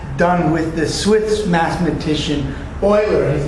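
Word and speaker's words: Euler: or it was done with the Swiss mathematician Oiler his name is pronounced Oiler and he decided to use the letter e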